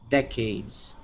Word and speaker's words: decades: this one here is the emphasis is on the first syllable right decades decades yeah cool now this one